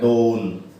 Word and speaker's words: dawn: ठीक है, तो इसका जो है उच्चारण भी इस तरह है, डॉन।